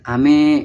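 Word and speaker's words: 飴: Seperti pelafalan ame, yaitu ame yaitu untuk hujan, sedangkan untuk permen itu me-nya itu lebih ke tinggi, ame gitu.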